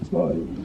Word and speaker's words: skål: You have to say it like a Viking, like skål.